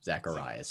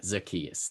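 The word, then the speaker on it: Zaccheaus: Zacharias or something. Zacchaeus. Olamide. Yeah. It's Olamide Zacchaeus. Yeah, Zacchaeus.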